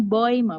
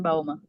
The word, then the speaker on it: Bäume: ya, jadi gini, ditambahin umlaut di A, Baum, ditambahin umlaut. Karena kita bacanya E, ada U juga, itu jadinya Oi. Terus ditambahin E di belakangnya, jadinya kita baca Bäume. Der Baum di Bäume. Baum di Bäume. Bacanya di Bäume ya, teman-teman. Tambahan umlaut dan tambahan E. Bäume. Bacanya Bäume, bukan Baume.